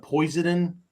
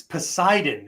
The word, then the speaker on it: Poseidon: And somebody asked me one time, have you ever seen this movie, the Poison, the Poison Adventure? Like poison? What poison? What the hell is that? Right? And I look at it. It's Poseidon.